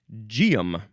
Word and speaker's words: Geum: It's one ge word which is pronounced gum.